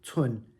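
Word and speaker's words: 寸: So again, this component is pronounced tsun, 4th tone, and village is tsun, 1st tone.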